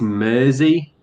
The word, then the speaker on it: Mersey: life channel name wrong so it's mersey as in the river mersey so with a z if you pronounce it